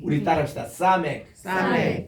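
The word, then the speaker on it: סמך: 우리는 이 가인이라는 개념 때문에 그 발음을 안 합니다만은 그래서 이제 아인 이렇게 나옵니다. 따라합시다. 사멕.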